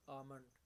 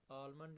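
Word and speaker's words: almond: am looking for आमंड आप इसको सही प्रोनाउंस कैसे करोगे आप इसमें ए और एम डायरेक्ट बोलोगे एल लिखने में जरूर आएगा ठीक है लेकिन एल प्रोनाउंस नहीं होगा आलमंड नहीं होता बहुत से लोग इसको गलत बोलते हैं आमंड बोलते हैं वो जबक इसको हम बोलेंगे आमंड I'm looking for आमंड ठीक है आल भी नहीं बोलेंगे एल बिल्कुल साइलेंट रह जाएगा तो नेक्स्ट है मैं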